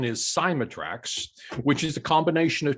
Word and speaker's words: Cymatrax: the pronunciation well it's actually the the correct pronunciation is cymatrax which is a combination of two different words